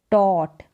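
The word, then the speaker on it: taught: आई, फिर है टॉट, क्या है? टॉट, टॉट। यहाँ पर UGHT, ये AU को ओ करके पढ़ दिया, और GHT, GH यहाँ पर साइलेंट है, GH यहाँ पर साइलेंट है।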